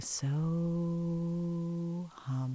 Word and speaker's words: So Hum: It's a Sanskrit mantra from yoga, and it's called the So Hum. Very simple. One syllable in, so, and one syllable out, hum.